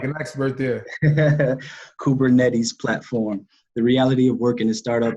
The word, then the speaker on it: Kubernetes: strategy for the enterprise sales platform wkp weaves kubernetes the money did i pronounce that right you did you did you sounded like an expert there kubernetes platform the reality of working at startup is